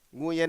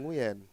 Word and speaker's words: Nguyen: Nguyen itu bukan dibacanya yang Nguyen. Gimana cara bacanya? Nguyen. Ya gitu. Pakai W ya justru ya.